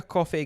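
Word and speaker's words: Coffey: But it's I got for my Christmas, I got gifted a Japanese coffee whiskey. Is it pronounced coffee though? Because it says COFEY.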